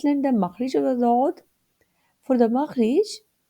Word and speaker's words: ض: Let's learn the makhrij of the dod. For the makhrij, it is pronounced from one of the side or edge of the tongue and what lies opposite to it of the upper molar, left or right.